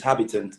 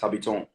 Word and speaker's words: Habitant: Basically, so in English, it's Habitant, but in French, it's pronounced Habitant. So I spelled it the way it sounds in French, but in English.